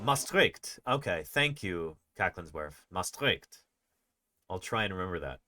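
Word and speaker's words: Maastricht: Mastric I'll try and remember that mastric we've got the emphasis on the second salap.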